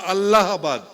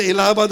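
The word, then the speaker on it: Allahabad: এ এইচ এবি এডি আচ্ছা ভাই এটা এলাহাবাদ হয় না আল্লাহাবাদ হয় আল্লাহাদটা আল্লাহর নামের সঙ্গে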